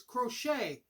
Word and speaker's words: Crochet: I wasn't sure how to pronounce his name, and I'm not sure if I even got his first name right, but it's Crochet.